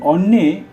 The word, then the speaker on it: অন্যে: অন্যে, এই অন্যে অয়ের পরে দন্তান্ন জ ফলা অর্থাৎ যুক্ত বর্ণ, তাই দন্তন্যের উচ্চারণ দুবার হল অন্যে, অন্যে।